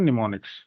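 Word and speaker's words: mnemonics: लिखने उनको बोलते हैं निमोनिक्स एम साइलेंट होता उसमें स्टार्टिंग ठीक है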